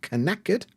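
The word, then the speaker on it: knackered: tired very very exhausted I'm knacked but spelled with a K so knacked we go to sleep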